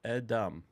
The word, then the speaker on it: Edom: Hebrew here where so this Alf is silent so it's edum so it's interesting is